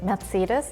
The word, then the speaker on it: Mercedes: I think I heard your accents, like in Germany we say Mercedes, so we pronounce the Z very hard. So like the C is like Z almost.